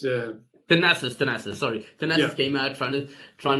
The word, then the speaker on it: Thanasis: I think that's how you pronounce it, right? Thanasis, yeah. Thanasis, sorry.